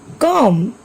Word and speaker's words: comb: Take some other examples like comb, climb, tomb, thumb, lamb. Here also B is silent.